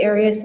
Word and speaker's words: Arias: you always pronounce it areas I've heard it pronounced about seven different ways I say Arius as does the rest of my family well let's your family